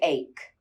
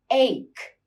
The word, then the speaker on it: ache: Stomach ache. Backache. Think about the pronunciation here. A lot of mistakes are made. Back ache. Tooth ache. Head ache. Snake. Bake. Take. Rake. Ache. Ache.